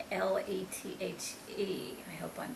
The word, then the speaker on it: Lethe: and that was called Lethe, Lethe. I hope I'm pronouncing it correctly. And that's like, the word lethargy or lethargic, when you're sleepy. That's where the word comes from, Lethe, the river of forgetfulness.